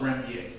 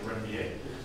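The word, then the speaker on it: Ranvier: Now these gaps in between the Schwann cells are called nodes of Renier. Okay. What? Zach's going to have a new word rather than Renvier. Okay? I think French pronunciation is Renvier.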